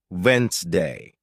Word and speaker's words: Wednesday: For example, you might see the word Wednesday and think it's pronounced exactly as it's spelled, but listening teaches you it's actually pronounced Wensday.